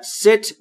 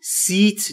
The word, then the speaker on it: sit: بدم ست نشستن و در مورد تلفظ ای در ست باید دقت بکنید بین ای و ا تلفظ میشه یعنی سیت نیست ست یعنی نشستن نکست کنار